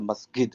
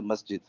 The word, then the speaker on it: masjid: you an example that the Egyptian guy is a masid I say masjid so because he's not